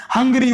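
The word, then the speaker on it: Hungary: तो यहाँ पर अंगरी थोड़ी बोलते हैं इसको, इसको अपन क्या बोलते हैं, हंगरी बोलते हैं। तो यहाँ पर एच साइलेंट नहीं हो रहा, एच का मीन्स यहाँ पर है निकल रहा है, साइलेंट नहीं है।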